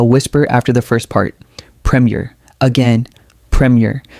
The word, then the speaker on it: Premier: Premier. Again, premier. Notice how the first syllable carries the stress and the second syllable is lighter.